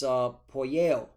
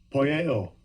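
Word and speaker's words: ποιέω: It's poieo. How does Esau pronounce it? Strong's G 4160. Poieo.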